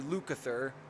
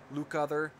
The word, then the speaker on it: Lukather: we also have si lukather Luke other I think it's the best way that pronounce his last name also provides some additional